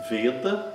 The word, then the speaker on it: Veda: Veda, a semivogal V está no início da palavra, é pronunciada normalmente como nosso V.